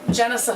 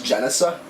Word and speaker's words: Genesa: it what is it jicea thought lab how you say it is jesa I never knew how